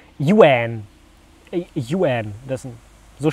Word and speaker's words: Ewan: Das hier kommt jetzt von Ewan, 13 Jahre alt, und der hat dazu nochmal geschrieben, korrekt wird Ewan ausgesprochen, Yuan.